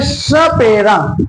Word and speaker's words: सपेरा: अगला स का उच्चारण करें, सपेरा, सपेरा। तो जीव दांतों से टकरा रही होगी, सपेरा।